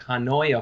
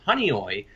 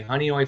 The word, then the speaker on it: Honeoye: western New York called honeoye falls it's very hard to pronounce it looks like huh neue Falls is honeoye like honey and then oi honeoye falls born and raised